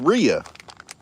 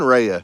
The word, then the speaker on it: Ria: it out Ria it it's Ria so it's not even rheya so Cindy was wrong